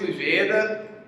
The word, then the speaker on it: Ugeda: Olá todo mundo, a gente está aqui hoje com o Ujeda. Se pronuncia assim Olá, mesmo?